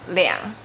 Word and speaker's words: 兩: Remember when counting things or people, we say 两 and also 200 200 2000 2000 2万 2万 we pronounce 两.